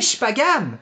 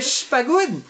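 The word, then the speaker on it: Shippagan: C'est incroyable, c'est 3 syllabes, gang. On va l'avoir tout le monde ensemble, ok? Vous êtes capable de dire Quatico, vous pouvez dire Chipagan. Puis il fait, hey, Chipagoun!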